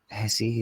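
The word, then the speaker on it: Hesse: to be fair to Axel um Hessie is how you pronounce his name who works to the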